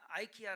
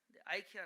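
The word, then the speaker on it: IKEA: 요 들어보셨어요 이렇게 0 미국에서는 아이키아 라고 합니다 이렇게 야 아 발음이 달라요 아이키아 라고 했는데 거의 가구 제 파는거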